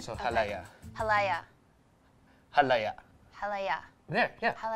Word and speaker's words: halaya: When I was looking at recipes for ube cake, there was this ube halaya. You say ha? Ha? La? La? Ya? Ya? The stress is on the ya at the end, so halaya.